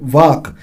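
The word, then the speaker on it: walk: है तो इतना ही जो ए है वॉक इन्हें विच जो एल है वो साइलेंट है एल जो है वो सुनाई नहीं देता ऑलमोस्ट ही बोलना नहीं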